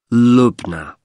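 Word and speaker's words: Lubna: now I'll just take your details for the booking form can I have your first name yes it's lugna can you spell that for me l u b n a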